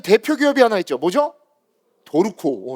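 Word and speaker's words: Dorco: 도르코. 어 도르코. 도르. 도르코가 우리나라 기업이에요, 여러분. 일본게 아니에요. 수출을 해야 되는데 우리나라 식으로 발음을 하면 안 팔릴 것 같아서 의도적으로 르 아 R를 루에서 도루코라고 만든 거예요.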